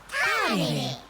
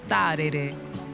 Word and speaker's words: Tārere: Tarere. What's the first letter of the word? Tārere. Tarere. T. Tino pai. There. Now try sounding out the word Tārere. Ta. Re.